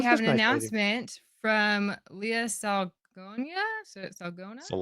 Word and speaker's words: Salonga: We have set sail and now we have an announcement from Leah Salonia. Salona. Salonga, I think. Salonga. See, I don't know how to pronounce.